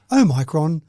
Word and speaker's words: omicron: at this stage although i prefer to pronounce it oh micron it just seems like it's a little bit more exasperating yeah that's right that's i think it's i think it's the o should have oh hyphen micron so